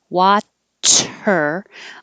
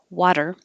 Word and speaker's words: water: the r watch her but if i just barely tap that spot water i don't have to think about is it a d is it a t um because my voice